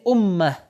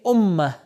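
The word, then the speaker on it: أمة: امت آخر میں یہ جو تائے گرد موجود ہے، اسی لیے اگر یہ امت اس کے آگے کوئی ورڈ نہ ہو تو عربی میں اس کو تلفظ کریں گے امہ.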